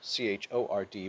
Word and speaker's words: chord: would be called a chord it's spelled chord c-h-o-r-d but it's pronounced chord so you just got to get